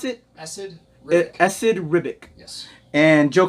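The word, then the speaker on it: Esad Ribić: How do you pronounce it? Esad Ribic.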